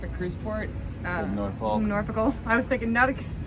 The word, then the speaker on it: Norfolk: If you say folk, you're wrong. Yeah, it's what? It's Norfolk. Norfolk.